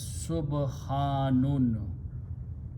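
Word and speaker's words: سُبْحَانٌ: Now, from this word, sabbaha, a noun is created which is pronounced as subhanun.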